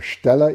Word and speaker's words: Steller: And my question to you is, which is bigger, a Steller eagle, that's the proper German pronunciation, or a bald eagle in size?